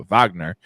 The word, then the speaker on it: Wagner: found out that it's Vagner it's not it's a w but it's pronounced uh Vagner um he's such a